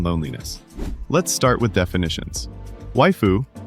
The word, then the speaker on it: waifu: Waifu rhymes with skyu is otaku slang for a fictional woman.